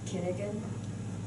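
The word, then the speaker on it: Cunégonde: lover Miss Kun I don't know how to pronounce Kunigan.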